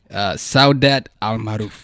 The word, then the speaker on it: Saudat Almaroof: with the founder I'm a butcher your name so dad al-mar'u you actually pronounce it properly how'd that it's great and